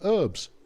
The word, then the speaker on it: herbs: Uh the word was imported into English from old French where the H was already silent. Thank you very much. Until the 19th century when both British and American speakers used the silent H pronouncing it herbs.